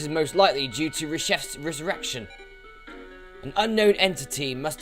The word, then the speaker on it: Reshef: or whatever I say firstly I say it was chief but I've heard somewhere it's reshef so I made like